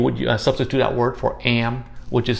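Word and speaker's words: em: vietnamese all right so the word am is pronounced i the closest thing i can think of is like the the canadian word for a you know like some canadians say at the end of a word and you just would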